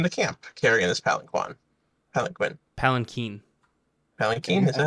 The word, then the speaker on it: palanquin: Palanquin.